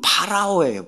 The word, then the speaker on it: 파라오: 애굽왕 바로 이렇게 나오죠이 바로가 우리나라 발음이 바로고요 원래 바로는 파라오예요 파라오 파라오가 원래의 발음이고요이 파라오는 고대 이집트의 정치적